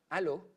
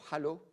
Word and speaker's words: halo: very obvious hypointense peripheral halo, or halo, depending if you're French or not, pronouncing the H.